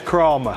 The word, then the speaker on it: Kramer: you're from what what is the actual proper pronunciation of creamy the actual proper prince nation is is kramer drama kramer it's the kramer family right they